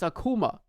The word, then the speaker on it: Akuma: and they were like hey by the way it's Akuma PC requirements if you're